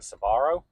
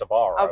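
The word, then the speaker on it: Sbarro: I I've only ever heard it pronounced Sabarro, but yeah, there it is.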